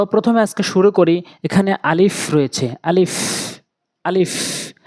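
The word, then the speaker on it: ا: আজকে শুরু করি এখানে আলিফ রয়েছে আলিফ আলিফ আলিফটি উচ্চারণ করতে এরকম শব্দ হবে আলিফ আলিফ আলিফ উপরের ঠোঁটগুলো নিচের ঠোঁটে রেখে উপরের দাঁতগুলো নিচের ঠোঁটে রেখে এভাবে আলিফ আলিফ বলতে হবে এরপরে হচ্ছে বা নিচে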